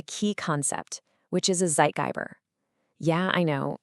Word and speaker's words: Zeitgeber: And for that, we need to understand a key concept, which is a zeitgeber. Yeah, I know. It's a German word.